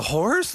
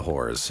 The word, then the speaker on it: Horrors: took with the pronunciation half the time people are like the horse the horse the horse yes it's the hores it's the hores um